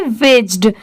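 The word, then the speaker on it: wedged: यहां पर इसे हम क्या प्रोनाउंस करेंगे? विज्ड। यहां पर डी साइलेंट है इसलिए डब्ल्यू ई जी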